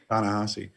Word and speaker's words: Ta-Nehisi: Ta-Nehisi.